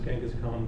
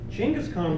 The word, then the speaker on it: Chinggis Khan: to meet him so the pronunciation that everyone uses Genghis Khan was introduced by Voltaire but the Mongol in its chingas China's economy Chinggis Khan wants to meet him he's